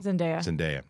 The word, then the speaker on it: Zendaya: And Zendaya, did I always pronounce it wrong? Zendaya.